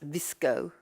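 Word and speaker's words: VSCO: one that's called called visco and more a hipster but it's still very good and since a hipster it's called v s c o but pronounced visco and the one you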